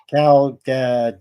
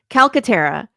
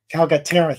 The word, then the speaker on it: Calcaterra: of your last name Lori Cala I'm sorry close it's close calcatera calcatera thank you yeah yeah you know